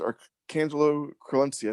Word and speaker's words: Archangelo Crelencia: The person who's joining me today is Archangelo Crelencia. Did I pronounce that right?